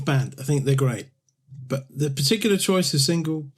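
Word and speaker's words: Björk: uh these more um obscure shoe gaze pics but the next one is another one of Tom's pics so the next song is uh birthday by sugar cubes who were fronted by bu in the mid 80s is how you pronounced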